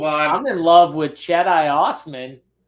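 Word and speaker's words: Cedi: I'm in love with Jedi Osman Travis he's trying to say that perhaps the right way to pronounce his name is not cheddah it's Jedi the Jedi that's it Jedi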